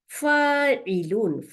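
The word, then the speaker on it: فَاعِل: আর যে কাজ করে কর্তা, তাকে বলা হয় ফা আলিফ জবর, আইনের নিচে জের, লামের উপরে দুই পেশ, ফাইলুন, ফাইলুন।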